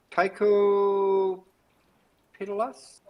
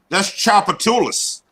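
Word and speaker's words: Tchoupitoulas: Tycho Pitalas? Yeah. No, that's Chapatulas. Chapatulas. That's Chapatulas. That's one of the most popular streets in New Orleans.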